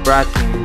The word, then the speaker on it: Vratim: So, Vratim, we pronounce it like that.